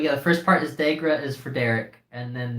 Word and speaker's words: DeGRA: It's DeGRA because the first part of it is Derek. The DE is Derek, which is my name.